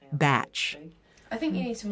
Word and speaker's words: bach: is called a batch it's spelled like Bach but pronounced batch I think you need